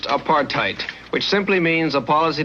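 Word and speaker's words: apartheid: In the Dutch or Africans language of South Africa, there is a word pronounced apartheite, which simply means a policy to keep people of different races apart.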